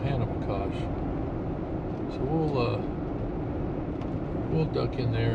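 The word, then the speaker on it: Ohanapecosh: That's the way the locals, that's how they pronounce it, Old Hanapakosh.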